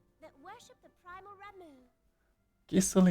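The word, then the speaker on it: Gysahl: Gissel is not how I would have pronounced that. As you can tell by my Geisel and Gisal.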